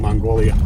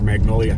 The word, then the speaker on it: Magnolia: Best one being Mongolia Yeah, he pronounced it. for Magnolia.